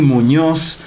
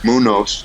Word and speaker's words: Muñoz: Estoy con don Johnny Muñoz.